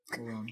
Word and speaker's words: Laurent: With a silent T. Laron.